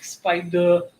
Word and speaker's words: Spida: Yeah, you just have to say it like Spida, and then you spell it right.